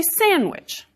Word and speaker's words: sandwich: Many of us delete the D in that word, and we say sandwich.